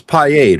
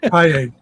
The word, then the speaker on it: Piade: It's Piade, right? We had that discussion. Piade, right? Because it was like Gatorade, Piade.